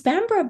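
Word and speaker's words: Bamburgh: It's is bambra b a m b r a. Uh, it's b a m b u r g h. So typical English pronunciation not matching the spelling.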